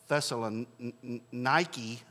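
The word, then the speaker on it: Thessaloniki: It's spelled differently. It's really pronounced, I think, Thessalonike. They use a K, not a C.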